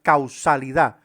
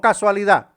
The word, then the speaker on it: causalidad: Vamos a entender el principio de la causalidad, no casualidad. Causalidad. No confunda con casualidad. Es causalidad de causal.